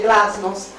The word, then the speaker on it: glasnost: Qui la vedete in cirillico, perché in russo si legge glasnost, e glasnost nel 1986